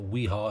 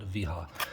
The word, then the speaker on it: Wiha: It's a tool, and this time it is a Wiha, or Wiha if you're American or whatever, but if you're German, I guess you would pronounce that Wiha.